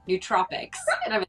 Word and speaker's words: nootropics: It's not nootropics, which is what I thought. It's nootropics, right?